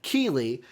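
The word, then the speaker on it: Geoff Keighley: tweeted out by jeff keely finally learned how to say his name by the way so i'm not saying nightly i'm not saying whatever else i was saying jeff keely through the game awards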